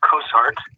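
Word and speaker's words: Cossairt: And could you, for the record, please state your name and spell it for us? Yes, R-O-Y. Last name is Cossart, C-O-S-S.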